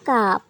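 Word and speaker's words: كاف: কাপ জিহ্বার গোড়া থেকে একটু আগে বাড়িয়ে তার বরাবর উপরে তালুর সঙ্গে লাগিয়ে আমরা কাপ উচ্চারণ করব। ঠিক কপ যেই জায়গা থেকে উচ্চারণ করেছিলাম তার থেকে একটু সামনে থেকে কাপ উচ্চারণ হবে এবং স্বাভাবিকভাবেই কাপ উচ্চারণ হবে। বিশেষ কোনো শক্তি এখানে প্রয়োগ করতে হবে না কফের মতো।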